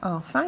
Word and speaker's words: enfant: Enfant, tu vois, enfant, il y a le han d'arc-en-ciel et le han de kangourou. On a les deux sortes de han dans le même mot.